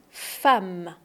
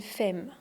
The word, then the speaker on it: femme: En fait, on dit pas f, on dit femme. Le son a une femme, pas une fème.